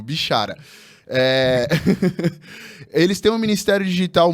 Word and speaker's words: Bichara: Falei seu nome certo, Moisés? Pronunciei corretamente. Não falo Moisés Bichará. Bichará. Tá vendo? Eu não pronunciei corretamente. Eles têm um ministério digital. Imagino que não seja o primeiro a errar, mas agora eu não errarei de novo.